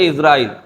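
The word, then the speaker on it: عزرائيل: কার নাম নিচ্ছে তো বলি আমরা আজরাইল কিন্তু শুদ্ধ উচ্চারণ হচ্ছে ইসরাইল জের দিয়ে তো ইসরাইল আলাইহিস সালাতু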